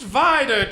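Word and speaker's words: Vidor: It's pronounced Vider Texas.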